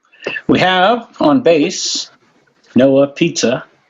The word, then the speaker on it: Puhse: We have on bass Noah Pizza. I always say pizza. It's closer if I say pizza, right?